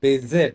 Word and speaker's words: visit: a lot, and I visit this She's saying visit. It's actually visit, right? V. It's visit. Visit. Visit. Visit. It was B when she visit. It's visit. V.